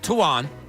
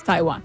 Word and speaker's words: Taiwan: It's how he pronounced Taiwan. But just like the country. He does it Tawan. It's Taiwan.